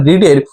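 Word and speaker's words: read: কারণ first ফর্মকে রিড বলা হয় এবং তার পরের দুটোকে বলা হয় রেড, রেড।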